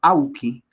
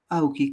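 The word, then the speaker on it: awki: Y entonces se pronuncia auki auki como como si estuviera pronunciando en castellano tamb Ai no igual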